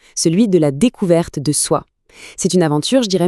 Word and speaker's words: Sǒ: Ça se prononce So et ça veut dire ami.